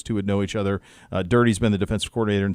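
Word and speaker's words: Durde: I'm not sure how to pronounce the last name. Do we know on that? Dirty.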